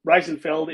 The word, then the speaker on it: Reisenfeld: We have Reisenfeld, if I am pronouncing that right.